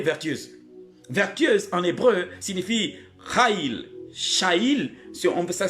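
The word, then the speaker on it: chayil: Vertueuse en hébreu veut dire Haïl, ça veut dire Shaïl, C-H-A-Y-I-L. Femme vertueuse, femme Shaïl. On lit, on prononce en hébreu Haïl.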